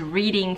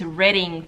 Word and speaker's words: Reading: wanted to go to Reading Terminal Market I was saying it wrong this entire time y'all I really thought it was Reading Terminal Market but it's Reading Terminal Market um and